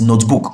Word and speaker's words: notebook: we have here is notebook, okay? Notebook. So where do we have the stress? Remember, the first, since it's a noun. So we have the stress in note.